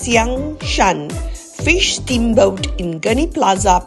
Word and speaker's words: Xiangshan: features the newly opened shangshan pronounced Xiang Shan fish Steamboat in ghani